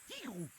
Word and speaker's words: Tigrou: Salut, je suis Tigrou, T-I-double-G, ça se prononce Tigrou.